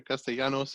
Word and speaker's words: Castellanos: heard him pronounce it that way, and I feel like that's proper. So, Yeah, Castellanos or Castellanos if you want, but it's all good.